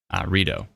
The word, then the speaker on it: Rideau: Oh, it's pronounced Rideau? Rideau. My bad.